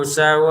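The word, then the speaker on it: سَوَاءٌ: Innal ladzina kafaru sawa'un 'alaihim. Untuk sawa di sini kita panjangkan 5 harokat. Sawa'un, un bertemu ain, bacalah dengan jelas. Sawa'un 'alaihim.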